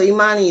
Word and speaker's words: Imani: It's actually C period Imani, so Imani is fine.